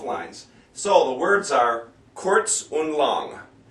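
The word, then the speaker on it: kurz: so the words are quz un long when you see a u in German it's kind of like a double o sound for us it's not a r not CTS it's quz quz and long they L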